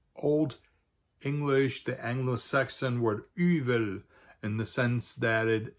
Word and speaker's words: yfel: So, if you have a fff in between two vowels that tends to get softened to probably more like a V sound, but that's up to